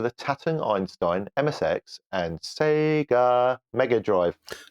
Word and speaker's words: Sega: Okay, Bajako says, copies of Oh Mummy for the Tatung Einstein, MSX, and Sega Mega Drive. No, that's not how you pronounce it. It's Sega. He's making a...